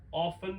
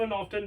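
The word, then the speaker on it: often: है यजली यजली जनरली इसको ऑफ ऑफ्टन दोनों पढ़ सकते हैं बट ऑफ ज्यादा जैसे मैं पहले आपको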